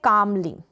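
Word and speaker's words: calmly: को काली और सफेद ये है कामली एल यहां पर साइलेंट है कामली नहीं बोलेंगे कामली शांति से चुंग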